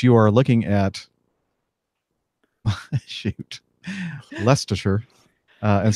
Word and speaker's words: Leicestershire: es te R SH er as we now pronounce it but you are looking at shoot Leicestershire and saying okay so it's hard to read